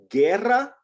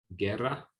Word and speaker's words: guerra: So that's why this word here is pronounced K. ¿Qué? Quien. ¿Quién? Guerra. Guerra.